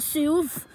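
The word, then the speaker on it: Soov: And Ovi, who you could just call Suv. Suv is playing soccer right now. Let me just tell you how it's spelled.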